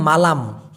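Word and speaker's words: malam: ভোরবেলাকে আবার মালাং না আরেকটা শব্দ হচ্ছে মালাম এম এ এল এম উচ্চারণটা হবে মা লাম মালাম মানে কিন্তু রাত তো সিয়াং মালাং আর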